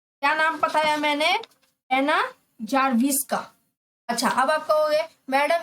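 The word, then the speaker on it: Czerwińska: तो बच्चों यहाँ पे सी जो है वो साइलेंट है, ठीक है, सी जो है वो साइलेंट है। इसको हम लोग नाम क्या पढ़ेंगे? आना, ठीक है, आना जारविस्का, जारविस्का। इसके अंदर सी और एन जो है साइलेंट है यानी चुप है, उसको हम नहीं पुकारेंगे।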